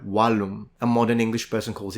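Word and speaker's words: vallum: interesting because in English when you say wall the word is probably recognizable to an ancient Roman from the Latin word walum at least they preserve the W so a Roman would have called it a walum a Modern English person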